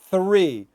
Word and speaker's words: three: That is much different than three. A lot of people think that, oh, you native speakers don't pronounce TH. We do.